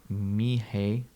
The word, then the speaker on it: Mixe: East Bay Nosh reports, pronounced Mihe. Oh, Miche. Mixe.